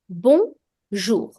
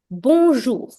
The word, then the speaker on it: bonjour: The J also will be smooth, like the word measure. So the J will be a J kind of sound. And OU creates the sound OU. So bonjour.